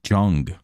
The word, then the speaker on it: Young: It was like, actually, this last name is said like Jung.